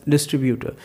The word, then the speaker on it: distributor: So you guys used to say that word as distributor. It's distributor. I is silent in that word, so you need to say this word as distributor. Distru. It's not tree.